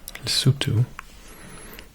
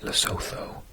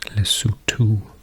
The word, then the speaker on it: Lesotho: I always used to call it Lesotho, but apparently it's pronounced Lesotho. So ignore the H and pronounce the O's like ooh, Lesotho.